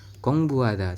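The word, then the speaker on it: 공부하다: ya teman-teman ya tetapi apabila untuk huruf Hnya ini ada di tengah seperti ini maka ee huruf H itu tidak dibaca teman-teman ya jadi dia enggak dibaca kenapa enggak dibaca karena memang aturannya seperti itu teman-teman kita membacanya adalah gieek o Eng berarti Gong biep u Gong Bu kemudian Hnya kita abaikan langsung ke a terus Diget ditambah dengan A jadi kita membacanya adalah kongbuada seperti itu ya teman-teman kemudian yang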